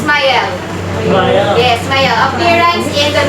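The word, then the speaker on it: Myriel: The actual bishop of Digne during the time period in which Mayel, in French it's Mayel.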